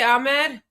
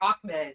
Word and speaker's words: Akhmed: Just being Hey, Ahmed. Or Akhmed, sorry.